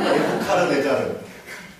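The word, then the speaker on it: 네부카드네자르: 성경 이야기를 하는 건데 느부갓네살 무슨 우리 성경 발음으로는 느부갓네살인데 뭐 네자르 무슨 카자르 어쩌고 그랬을까? 뭐라고요? 네부카르네자르. 저런 좋은 발음입니다. 네부카르네자르.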